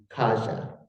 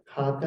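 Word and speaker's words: cāga: personal quality of generosity, kaja, or kaga, I'm not sure how to pronounce it. Do you know? C-A-G-A. Kaga. Yeah, there is a gut sound in Pali, so it probably is a kaga.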